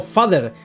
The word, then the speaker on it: vader: Y encima el villano se llama Lord Vader, que es exactamente como padre en holandés pronunciado father y significa literalmente padre, o sea, el patriarcado en persona.